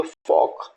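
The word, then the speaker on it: folk: CHAL के चाक, तो एल का प्रोनाउंसिएशन अगेन हमको नहीं करना है। WAL के वॉक, FOL के फॉक, HALF half, PALM palm और SALMN तो सामोन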